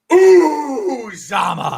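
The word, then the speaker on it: Uzomah: You said his name wrong. It's Uzama.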